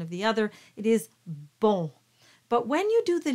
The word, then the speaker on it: bon: So normally the word bon is pronounced as a nasal, very closed O.